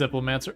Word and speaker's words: Diplomancer: Just make a joke how it's pronounced. It's Diplomancer.